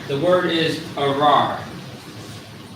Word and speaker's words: arar: The word is arar. Arar, which means curse in Hebrew.